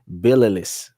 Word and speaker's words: Tbilisi: I'm pretty sure that T is silent. Bililis.